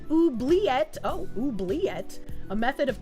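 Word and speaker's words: oubliette: Let pronounced oobleette.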